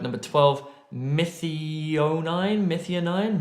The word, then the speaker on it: methionine: not renal dysfunction oh I'm gonna have trouble pronouncing this word number 12 mithi oh nine methionine methionine I suspect number thirteen charcoal or activated charcoal